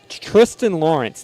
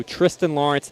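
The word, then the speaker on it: Thriston Lawrence: And then, uh, Tristan Lawrence, 90 to1, a South African. He has an H. It's spelled Thristan.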